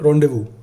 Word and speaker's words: rendezvous: Rendezvous, s भी silent है, z भी silent, so it is rendezvous.